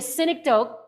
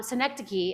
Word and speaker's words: synecdoche: we it can be a cynic dope or um synecdoche i think is actually how you say it or um the parenting